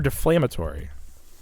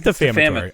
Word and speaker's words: defamatory: Is it defamatory or deflammatory? I don't think it's deflammatory. Oh, it is defamatory. All right. It's defamatory. I thought there was an L, like you were flaming.